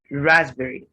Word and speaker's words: raspberry: smoothie smoothie raspberry raspberry as you can see there is a silent p in this word so the word the right way of saying this word is raspberry can i get some